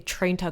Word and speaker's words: trenta: Oh, in Italian, it's trenta. It's 30 ounces.